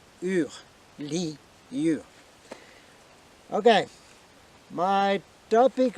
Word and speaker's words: Lyur: Commander Lyur. I gave you the proper spelling for Lyur. It's Li, like in generally, and Ur. Try to pronounce this way. Ur, Lyur.